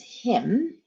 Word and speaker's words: him: Well, it is him, but the H is not pronounced because we just dropped the H.